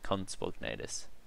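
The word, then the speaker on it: Compsognathus: Just like everyone calls the conspognatus a compi, it's conspognatus.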